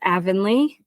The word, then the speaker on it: Avonley: And I Avenly, how are you today and am I pronouncing your name correctly? Yes. So it's Avenly and thank you so much for having me on your show show.